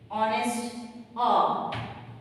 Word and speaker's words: honest: Honest is wrong, though it is written with the consonant sound, consonant word, but we pronounce it with the vowels.